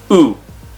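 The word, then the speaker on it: う: Next, you have the U in this column, and it's pronounced oo. Okay? Like upsilon, if you know Greek. Or maybe like a child would go ooh, ooh, ooh.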